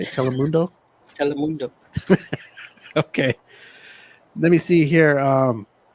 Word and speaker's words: Telemundo: Telemundo.